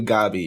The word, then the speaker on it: Gabi: play too much it's like gabby gabby it's actually gabi it's that gabby at all but the song